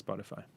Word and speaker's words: Spotify: in the english translation spotify is a swedish startup but uh i've only ever heard it as spotify okay cool okay now